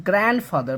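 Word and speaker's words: grandfather: যদি এনডির এন এবং ডি, এই যে এনডি এর পরে যদি কোনো লেটার থাকে তাহলে এটা ডিটা সাইলেন্ট হয়ে যায়, গ্র্যান্ড মাদার। আবার যদি শুধুমাত্র গ্র্যান্ড থাকে তাহলে আবার ডি এর সাউন্ড হবে, গ্র্যান্ড হবে এটা। তবে যেহেতু ডি এর পরে আবার এফ এসেছে, ফার্স্ট সাউন্ড এসেছে, অতএব এটা আর ডিটা সাইলেন্ট হয়ে যাবে।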